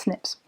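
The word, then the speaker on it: SNPs: single nucleotide polymorcent morphisms these are known as sips i'm sorry snips which which is pronounced as snips they are the most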